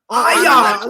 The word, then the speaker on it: Ion: Obviously, I'd like to get one of those Strike Masters or Eon G2s, but I'm not about Eon! this- Eon. whatever. Ion! Let's say it right.